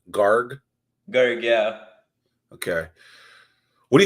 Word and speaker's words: Garg: correct pronunciation we didn't ask you how to pronounce your last name gar Gar yeah okay what do you think about